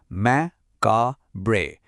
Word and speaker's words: macabre: এই শব্দটা হলো মাকাব্রে। উচ্চারণটা হবে ম্যাকা বব্রে। চলুন একবার একসাথে বলি মাখাব্রে।